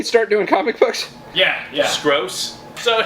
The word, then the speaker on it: Skroce: I'm really sorry if I butchered your name there. No, I think it's Scorsese. I was gonna It's say. not Scorsese. Yeah. Didn't he start doing comic books? Yeah. Skroce.